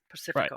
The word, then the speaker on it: Pacifica: I use the Spanish language pronunciation of that word, Pacifico.